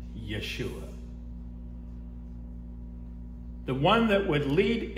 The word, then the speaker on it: Yeshua: that call him Yu there are many different pronunciations of the name but the truth is the actual name is Yeshua so to delineate between